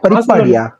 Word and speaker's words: பரிபாடி: பரிவாடியா பரிபாடியா? பரிபாடி அதான் ப்ரொனவுன்ஸ் பண்ணணும்.